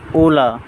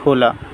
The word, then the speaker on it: hola: E de foreign rules if any word start with the H then it will be silent and I mean h